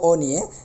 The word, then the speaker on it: অন্য: স্বরীয়টা ও হয়ে গেছে অনুরূপভাবে অন্য এটাকে অন্য বলতে হবে অন্য অন্য মানুষ যেমন আমরা বলি অন্য উচ্চারণের ক্ষেত্রে এটাই সঠিক এরপরে এটা গদ্য বলতে পারবো